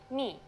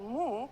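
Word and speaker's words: μι: good let's move on the second letter is a consonant me you might have heard it called mu but it's not how we say it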